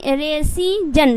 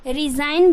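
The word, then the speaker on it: resign: डिजाइन उसी तरीके से रे रेजन रेजन आपको नहीं बोलना है रिजाइन बोलना है उसके बाद क्या है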